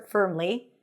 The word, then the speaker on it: firmly: In return, said the goblin firmly, same as in stir, firmly, for payment.